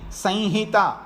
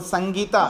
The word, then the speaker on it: संहिता: देखिए कल बोला था उच्चारण में संहिता ऐसा भी बोलते हैं और संगीता ऐसा भी बोलते हैं, दोनों ठीक माने जाते हैं।